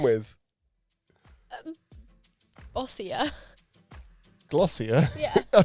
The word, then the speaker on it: Glossier: what does it rhyme with? Ossia. Glossier.